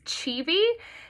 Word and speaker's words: Civi: is actually pronounced as chibi i think the easiest way to remember it is to just replace the s in cheesy with a v and you get chibi